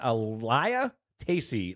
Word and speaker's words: Elia Tacey: So the young guns, Colton Martin coming in first, Dominic Stafford second, and Elia Tacey. That's the way I was told that name is said, so I did say it wrong last week.